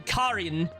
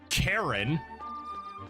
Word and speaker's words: Karin: And then of course there's again the basic pronunciations calling Karin Karen. Like come on, that one that one should be easy.